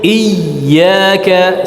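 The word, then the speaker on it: إياك: Nah, di ayat ini contoh nabarnya, contoh nabar yang betul adalah pada huruf ya yang bertasydid ya. Jadi ditekan sedikit, iyyaka, silakan. Iyyaka na'bud. Iyyaka na'bud. Hati-hati jangan berlebihan sehingga dia menjadi huruf jim. Iyyaka ya. Ngalir suaranya. Masih ada aliran suara.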